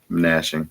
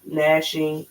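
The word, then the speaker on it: gnashing: shall be willing and nashing nashing I was about to pronounce the G of teeth now pause right there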